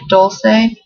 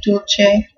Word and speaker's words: Dulce: pronunciations for this um I guess an English pronunciation might be like Dulce um Spanish is Dulce and if you wanted to say the Italian way it'd be Dolce and it's a Latin